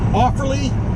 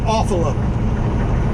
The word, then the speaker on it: Offerly: They might do a bit of soybean here, but Offerly, I think, is the actual proper way to pronounce the name of the town. But I always called it Awfula. Just sounds funnier.